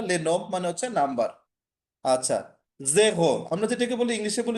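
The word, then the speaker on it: zéro: ওই আমরা যেভাবে জিরো লিখি, ফ্রেঞ্চও সেম ওরাই ওইভাবে জিরো লেখে, বাট উচ্চারণটা চেঞ্জ হয় জেহো, এটা উচ্চারণটা কি হয় জেগো। জেহো জেহো, ঠিক আছে?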